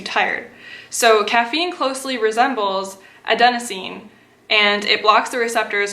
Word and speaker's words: adenosine: I pronounce it okay Google how do you pronounce a de n OS I and E adenosine adenosine okay so adenosine is a chemical that